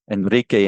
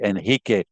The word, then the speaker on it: Enrique: My name was, but it's in Spanish it's Enrique, and in Portuguese they say Enrique.